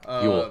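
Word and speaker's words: Yeul: Yule? I didn't play 13. Yeah, Yule, just like a Yule log.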